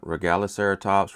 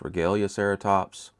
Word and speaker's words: Regaliceratops: You pronounce it however you want. Regaliceratops, Regalecaratops.